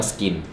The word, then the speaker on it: SKYN: หน่อย ชื่อ รุ่น ว่า Skin นะ ฮะ skyn น่า จะ อ่าน ว่า Skin ด้าน ข้าง ไม่ มี